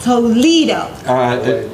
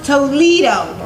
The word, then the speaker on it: Toledo: You see, Castilian and Spanish you pronounce different than English.